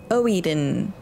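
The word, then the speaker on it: Oedon: Oeden.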